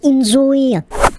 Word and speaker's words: inZOI: Actually, ça se prononce enjoy.